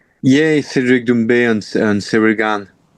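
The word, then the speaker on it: Doumbè: Is it Dumbbe? Yeah, Cedric Dumbbe and and Sir Gan.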